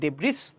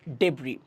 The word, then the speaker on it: debris: উচ্চারণ করতে পারি দেব্রিস, নো, ভুল হবে, উচ্চারণ করতে হবে ডেব্রি, ডেব্রি।